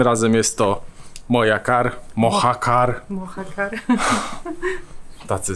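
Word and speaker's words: Mojácar: jest to moja kar mohacar Tacy z nas Hiszpania tak i od ty się wymawia jak h mohacar umiejscowiony jest w valmerii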